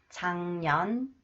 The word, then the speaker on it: 작년: 기역 combine with 니 ounce 응 응 응 작년 작년 볶는다 볶는다 익네요 익네요 작년에 한국에 왔어요 작년에 한국에 왔어요 작년에 한국에 왔어요 작년에 한국에 왔어요 And this one